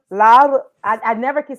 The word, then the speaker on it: Laura: I know, but I can't roll. I don't have the You can the say it like with a D, low key.